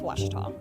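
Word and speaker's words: Ouachita: Texas everybody pronounces it witch but really it's wash was was how would you pronounce it wash was it's wash Baptist University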